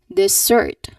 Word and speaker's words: dessert: So they emphasize the first syllable they say it as dessert again dessert instead of dessert. Dessert again dessert. So the stress should be on the second second syllable.